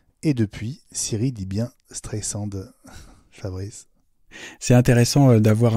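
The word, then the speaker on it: Streisand: elle s'appelle Barbara strend avec 2 S c'est pas un Z or Siri disait stand alors en 2016 la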